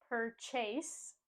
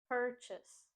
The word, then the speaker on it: purchase: purchase we don't say per Chase and put the stress on the second syllable instead we put the stress on the first syllable per purchase purches Chase in this